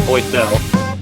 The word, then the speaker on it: Boysel: Z, it's Boysel.